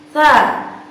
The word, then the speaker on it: ث: atau suara yang kurang ini contoh ta ta tsa Lalu bagaimana sahabat jika seumpama 286 itu terdengar